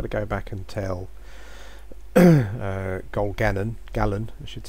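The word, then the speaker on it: Gil-galad: So I've got to go back and tell Gil-Gallen, I should say, as that's pronounced.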